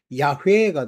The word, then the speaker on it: 야훼: 우리로 그거를 한국식으로 발음하면 야훼가 됩니다. 근데 이제 그거를 번역해서 여호와라고 말한 거야.